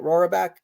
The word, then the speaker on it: Roraback: Am I saying it right? Roraback? Mm-hmm.